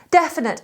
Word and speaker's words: definite: with all the time definite is spelt d-e-f-i-n-i-t-e it's those eyes in the middle i always change for a different vowel death in neat definite although it's not said that way definite definite if something